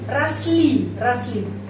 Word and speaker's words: росли: Ya, terus di sini росли. Penekanannya pada huruf I. Jadi huruf O ini A, ya pengucapannya A.